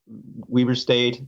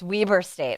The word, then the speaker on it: Weber State: history here in uh weber state and then uh i followed her here here that's so cool i said it wrong it's weber state i didn't even know